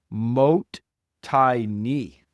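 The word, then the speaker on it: もったいない: One of the most significant value concepts that we have cherished from ancient times is this term pronounced mo tini.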